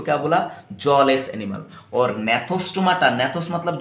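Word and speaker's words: Gnathostomata: ठीक, अब देखिए बच्चों, इसका प्रोनाउंसिएशन ध्यान रखना बच्चों, ये जो है AG, ठीक, ए का प्रोनाउंसिएशन नहीं होता एग्नाथा, यहाँ पर सॉरी ए का प्रोनाउंसिएशन नहीं होता, नहीं, यहाँ पर जी का प्रोनाउंसिएशन नहीं होता। ठीक, जैसे कि यहाँ से मैंने प्रोनाउंस करा नेथोस्टोमाटा, ठीक, तो जी का प्रोनाउंसिएशन साइलेंट रहेगा, और यहाँ पर दोनों भी प्रोनाउंस होगा।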